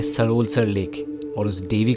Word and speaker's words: सरोलसर: सबसे पहली बात, सरोलसर नहीं, सरोलसर, सरोलसर।